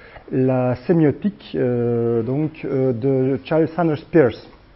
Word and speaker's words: Peirce: sémiotique de Charles Sanders Peirce. Donc Peirce, comme vous voulez, donc Peirce. C'est Peirce, je crois que c'est mieux effectivement comme prononciation.